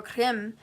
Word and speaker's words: Krim: The Kali Bija, or Krim, it sounds like cream.